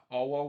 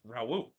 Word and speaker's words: Raul: whatever reason there uh cow always pronounced his name like uh AWA or something like that it's Raul I don't know why they pronounce it like throw this term I have not heard any other commentator pronounce the way that cow pronounced so I'm just gonna go with what other people pronounced and